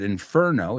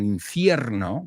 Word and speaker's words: inferno: The movie is called Towering Inferno. It came out in 1974 and uh well, you recognize the word inferno. It's not inferno. We say inferno.